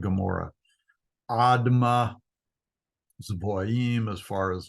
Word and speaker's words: Gomorrah: you go toward uh Sodom and Amora is the way that's pronounced in Hebrew Sodom and Gomorrah adma Zim as far